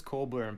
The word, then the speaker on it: Cockburn: days ago told me that uh the bruce coburn pronunciation of your name is a scottish and there